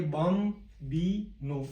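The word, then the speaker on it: bambino: Italy में sorry को, बम बी नो, बी ए M, bomb plus B plus no. इस प्रकार से इसका उच्चारण करेंगे, बम बी नो।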